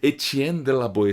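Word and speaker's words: Étienne de La Boétie: que a gente pronuncia-se é que eu tô pronunciando corretamente etienne de la boetie se esse autor que faz uma provocação é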